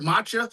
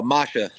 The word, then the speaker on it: Masha: Because I heard Matcha, but then I thought I heard Misha. No, Masha.